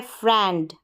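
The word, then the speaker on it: friend: फिर है फ्रेंड, आई ई को ए।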